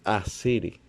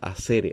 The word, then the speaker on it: asere: noticia yo algo similar se pronuncia con una fuerte connotación en la primera sílaba o sea acere o con una r suave en la segunda no se pronuncia como una r o sea acere así así no más tal cual